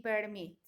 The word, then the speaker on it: permit: Tengo occur y permit. Estos verbos son de 2 sílabas, como dice acá. Y la última sílaba tiene el estrés de voz, ¿ya?